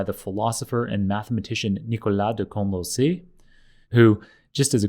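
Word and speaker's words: ∂: symbol and yeah obviously we can pronounce it curly d or just d my preferred way of pronouncing this character is del and that distinguishes it from the d that we use for full derivatives so if this was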